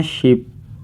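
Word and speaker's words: 십: हैं खूद नाइन को इसे हम कहते हैं शिप न यह ह है इसे हम कहते हैं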